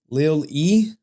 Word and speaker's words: Lilly: It's pronounced Evangeline Lilly. Lil E.